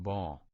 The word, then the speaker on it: Baal: It is pronounced Baal.